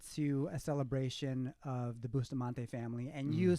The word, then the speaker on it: Bustamante: Bustamante?